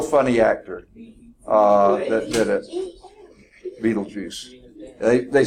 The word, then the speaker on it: Betelgeuse: Okay, it's Beetlejuice, which is BETELGEUSE. Now, there's actually a movie named that. I can't think of the actor. He was a real funny actor that did it. Beetlejuice.